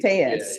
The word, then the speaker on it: Thayes: It's Thayes. It's like TH. It's pronounced THE. Tayez.